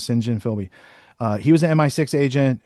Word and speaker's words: St. John Philby: John Philby, or St. John Philby is how Americans say it, but his name's St. John Philby.